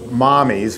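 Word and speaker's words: Mamis: M is gelato dot-com she calls it mommies which is Italian for mas ma Mis it sounds like it's Mami's but we can't use Mami's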